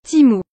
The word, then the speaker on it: Temu: spot cette application c'est ému qui se prononce normalement Timo qui à coup de